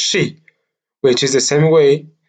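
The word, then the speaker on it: 四: and suffering Japanese language the number 4 is pronounced Shi which is the same way the word of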